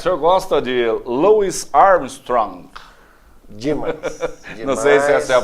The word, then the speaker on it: Louis Armstrong: maravilha maravilha Dr cart o senhor gosta de Louis Armstrong demais demais a pronúncia correta mas esse é o nome de um dos maiores astros da música Mundial Luis Armstrong Com certeza o vamos pedir essa música para